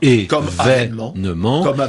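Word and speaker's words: évènement: Ce mot se prononce donc événement.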